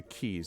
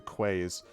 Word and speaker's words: quays: okay so uh you head down to the keys now the keys are jingling in my pockets which until yeah until i was until i was uh probably 16 or 17 i thought it was the quays because i never actually heard it pronounced and